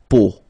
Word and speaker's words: peau: But then, so the sound that you will have to pronounce when you've got these three vowels combined together, it's the sound O.